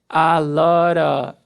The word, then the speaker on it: a lot of: A lot of. Esse T com som de R e o Fzinho do of, a gente corta fora esse som de V, of.